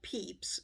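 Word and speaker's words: Pepys: prompt from Elizabeth the complete Diary of Samuel Peeps and I had to look up how to pronounce that which is over 4,000 Pages or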